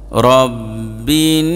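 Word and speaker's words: رَبِّ: পেশ কুল বড় কাফ মানে গলার মাঝখান থেকে উচ্চারণ হবে কুল আউজুবি রব্বিন নাস রব্বিন র জবর রব্বা নুন জের বিন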